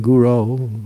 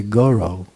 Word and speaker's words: guru: like if you say instead of saying Guru Guru oh you say Goro people say to bun